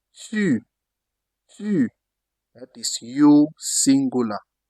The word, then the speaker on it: tu: You have to tie the O with your lips rounded. U. U. What French used to say tu. Tu. That is you singular. U. That is, for example, tu. Tu.